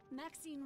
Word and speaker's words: Maxine: of most Exquisite varieties Maxine rhymes with Queen after all and dearest